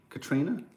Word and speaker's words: Catriona: Is the woman from Katrina. Belfast that you like. Katrina? Is that how you pronounce it?